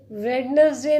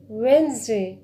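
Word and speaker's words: Wednesday: वेडनेसडे, वेडनेसडे नहीं होता, वेडनेसडे।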